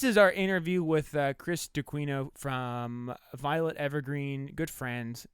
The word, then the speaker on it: D'Aquino: It's pronounced DeQuino.